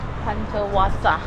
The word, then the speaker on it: Hundertwasser: Hundertwasser. Hundertwasser. Hundertwasser. Yeah, this is. Hundertwasser. Because it is Austrian.